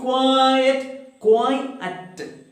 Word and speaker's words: quiet: ask you please keep quiet again two syllables celebrities will study later